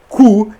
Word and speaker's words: Koo: mas o aplicativo KOO, se escreve KOO indiano e se lê cu.